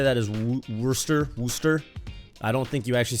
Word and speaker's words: Worcester: say that as worcester wooster i don't think you actually say warcester even though it looks like it looks like it's pronounced warcester this is a six